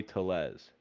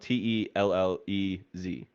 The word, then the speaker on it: Tellez: Baseball Classic and in it's spelled t-e-l-l-e-z right Brian that is not you don't say it to Les right it's Tellez I mean if he if he's Latin then surely because of the Double L is a y no well I I work with someone who's legit has the same last name spelled the same way we say Tellez this is not right stages I mean it